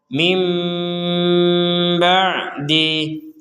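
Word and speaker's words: مِنْ بَعْدِ: dijelaskan di sini adalah sukun bertemu dengan ba maka kita membaca Nun ini sebagai mim perhatikan kita membaca Nun ini sebagai mim kalau menggabungkannya dengan huruf ba contohnya mim ba'di mim ba'di mim jadi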